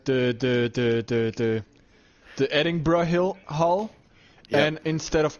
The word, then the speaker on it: Edinburgh: I'm refused to say adding bruh because Edinburgh it just sounds weird it's not how it's pronounced Edinburgh Edinburgh edin Edinburgh Edinburgh without the G just adding you don't